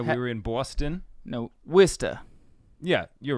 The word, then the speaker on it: Worcester: we traveled to Worcester yeah it's Worcester uh that's not it's not how it's spelled this is a lot